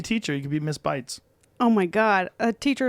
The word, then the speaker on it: Beitz: Bites. Like biting. Bites.